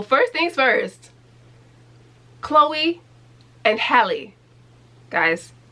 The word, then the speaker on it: Halle: it with me hallie it's so strange how people can't pronounce h-a-l-l-e when it comes to chloe and hallie well y'all don't have no issue pronouncing halle berry it's the same name it's spelled the same it's the same name y'all been saying halle berry for the last 30 years which i can't say